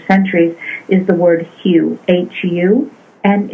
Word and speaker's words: Hu: And H-U is pronounced Hu when you're singing or chanting it.